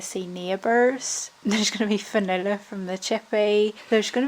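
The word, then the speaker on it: Fionnuala: Because Fanula, right? F-I-N-U-L-A. Yeah, and that's the Anglicisation that you're Fanula.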